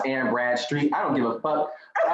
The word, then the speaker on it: Anne Bradstreet: I've been promoting this bitch's name wrong. Like the whole time. It's not Anne Bradshaw, it's Anne Bradstreet.